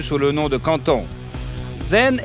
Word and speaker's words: Zhen: Zhen est la prononciation du nom de la fille de la dialecte pékin, tandis que la famille Yen est la prononciation cantonaise.